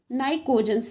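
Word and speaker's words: pnictogen: family भी कहते हैं या फिर नाइ कोजन जिसमें पी साइलेंट होता है पी एन आई सीओ जीी ई एन एस नाइ कोजन भी कहते हैं इसे 15 को 16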